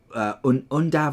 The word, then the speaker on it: Undav: And then Undav, I think is how you pronounce his name. I don't think it's Yundav.